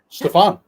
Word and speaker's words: Stefan: Family Matters for me only way I could get people to say my name correctly was because of Family Matters Stefan yeah I was like you know Urkel Alter Ego they were like oh